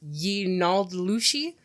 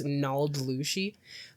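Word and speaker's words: yee naaldlooshii: correctly, but I believe the translation of Skinwalker is pronounced Yinaldlushi. I also saw it written Nodlushi with only one L, but I believe it's Naldlushi, which just means Skinwalker,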